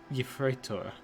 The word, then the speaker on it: Yefreitor: Yefreitor.